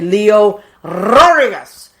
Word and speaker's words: Leo Rodriguez: You have to roll your R's when you say Leo Rodriguez.